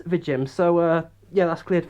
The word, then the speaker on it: VIJIM: the company was pronounced at first i thought it was either viagem or vegem but all the other reviews were pronouncing it as the gym so uh yeah that's